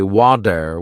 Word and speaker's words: water: I noticed that native speakers say water with a soft d sound.